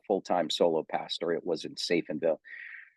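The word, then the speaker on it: Safenwil: It's pronounced Seifenville, but it's spelt Seifenwil.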